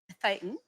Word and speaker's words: Thetan: Thetan, we pronounce it Yeah.